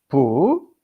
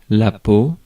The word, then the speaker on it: peau: So, peau, non féminin. I'm going right now to, there is a lot to say about that, by the way. So I'm going now for the pronunciation. La peau, La peau, that's feminine.